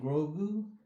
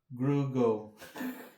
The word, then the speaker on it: Grogu: I heard somebody say Grugo on a YouTube video once. It's hilarious. They don't know what they do. They just commit a travesty saying his name wrong. Finally, the kid gets a name and you have to pronounce it wrong.